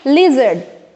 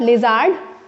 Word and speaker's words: लिजर्ड: second one इज ए so what is इट लिजर्ड ठीक है ना लिजर्ड इट्स नॉट लिजर्ड बचपन में पढ़ा होगा इ लिजर्ड ठीक है ना ली is more स्ट्रेली pronounced next is देखें यहां